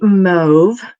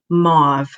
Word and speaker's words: mauve: Then we've got Moody Mauve. I have just learned, as have many Canadian demonstrators, that apparently Americans pronounce this color mauve, which is very weird. But yeah, Canadians say mauve.